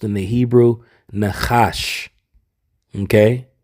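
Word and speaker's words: נחש: word in the Hebrew and that word is pronounced in the Hebrew Nash okay it's Nash and when you go into this word Nash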